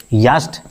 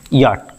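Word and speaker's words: yacht: यास्ट नहीं यहां सी H silent होता है। इसको पढ़ते हैं याट।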